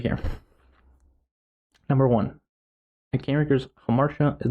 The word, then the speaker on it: hamartia: It's pronounced amartia in Greek, if you're wondering.